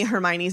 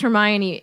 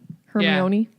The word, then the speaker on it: Hermione: remember what i remember i pronounced hermione incorrectly her tony i think i said her her moan or something like that